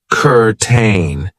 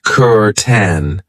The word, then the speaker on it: curtain: of the pronunciation I know it looks like kurain but we pronounce it Kur 10 and this is something that you will find